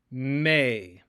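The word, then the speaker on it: μή: It is pronounced may, may.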